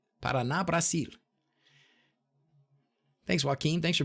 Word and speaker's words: Paraná: Paraná. I said it right, didn't I? Paraná, Brasil.